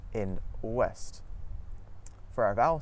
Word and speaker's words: ouest: OU at the start of the syllable makes a W sound, just like in the words woman and west. Some French examples of this are oui and ouest.